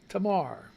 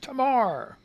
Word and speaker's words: Tamar: Tamar. She says it's pronounced Tamar, not yesterday, Tamar.